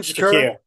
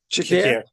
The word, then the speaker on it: Shakir: Shakur. Shakir.